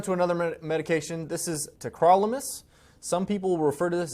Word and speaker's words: tacrolimus: we're moving on to another medication this is tacrolimus some people refer to this as techrolimus but it's actually pronounced tacrolimus it's another medication it's an immunosuppressant but it's